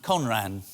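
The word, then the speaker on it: 混乱: Japanese in here but this is a Japanese word it's pronounced conran and it means chaos and confusion when I was a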